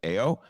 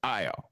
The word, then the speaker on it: Ayo: the name is spelled ayo shouldn't it be pronounced ao no it's io okay no one is asking that i know